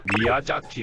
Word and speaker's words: 미야자키: 글쓴이 는 미야자 키 의 이중 자음 을 발음 하는 데 어려움 을 겪고 있습니다 . 그녀 는 " 미야사기 " 라고 말 합니다 . 아 , 그녀 는 이중 자음 을 발음 하지 못하네 요 .